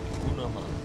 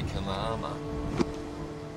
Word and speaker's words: Gunama: Well, that's it's the Aboriginal word, the Ngarigo word for snow. Gunama. Really? Although the white fellows might say Kanama. But it's, you'd say for Gunama.